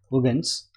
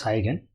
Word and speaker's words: Huygens: hello everyone let's study about hogan's principle of wavefronts it's pronounced as hogans but many will call as high again so i'll also use the word hygiene only